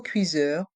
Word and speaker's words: cuiseur: Et dans le mot cuiseur, le S se prononce ZE, car il est entre 2 voyelles.